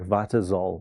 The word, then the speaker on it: Vitzol: So it and and lucky it doesn't sound like when you say it like that sounds like vitol not z vitol.